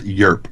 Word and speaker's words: Europe: And it's just a one-syllable word. It's Yerp, not Europe. Europe. It's just Yerp.